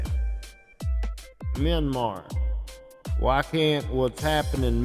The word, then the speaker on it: Myanmar: Myanmar.